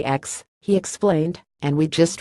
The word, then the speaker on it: X: ATT store acknowledged that the official pronunciation was 10 but he hadn't made a habit of correcting wayward customers it's called the 10 but customers say X he explained and we